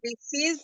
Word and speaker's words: receive: receive for email. Ah, by emails. Yes. Okay. Receive. Remember the pronunciation. Here the last. Receive. We don't pronounce the E.